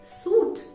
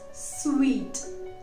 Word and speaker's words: suite: सूट. नो, इट्स नॉट सूट, इट्स स्वीट. यस, मीठा वाला स्वीट, स्वीट.